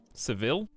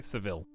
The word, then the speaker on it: Seville: these words out loud the um revolt seville okay seville so it looks like how it says sevilla okay it's not what the